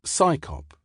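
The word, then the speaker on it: CSICOP: CSI cop is usually pronounced psychop which seems appropriate given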